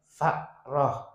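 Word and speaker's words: فأرة: Al afwa Dimaafkan, dima'fu Berkaitan dengan an ba ril fa roti Dari kotorannya Fa roh Fa roh itu tikus jadi ini Bacanya yang benar, fa roh kok mbak roh Ya, fa roh Ya An ba ril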